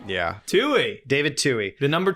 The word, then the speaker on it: Twohy: It's David Twohy. Yo! Oh my gosh! It is literally spelled Twohy. It was a really wide swing, but I think I knocked it out of the park, right? Yeah. Twohy.